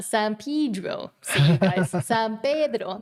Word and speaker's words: San Pedro: San Pedro. That's how it's said. It's a Spanish word.